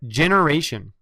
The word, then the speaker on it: generation: and eye color Gene the next word also has a soft G sound can you read it it says generation generation has two meanings